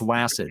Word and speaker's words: WASD: It's pronounced Wacid. Oh, damn it. Oh, like flaccid. Yeah. Yeah. It rhymes with flaccid.